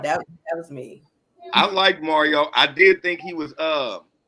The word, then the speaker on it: Mario: in Park and was telling everybody they've been saying his name wrong. It's really Mario.